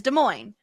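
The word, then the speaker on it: Des Moines: The capital of Iowa is De Moine. Both S's are silent.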